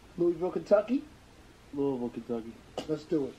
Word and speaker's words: Louisville: Louisville, Kentucky. Let's do it. Gotta say it right. Louisville. You know, other people say Louisville.